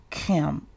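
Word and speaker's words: km: It is simply pronounced as chem, like the chem in chemistry, or like Kim, your homegirl that you knew from back in the day, Kim.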